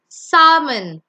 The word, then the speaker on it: salmon: The next one, the L is silent. So you say salmon.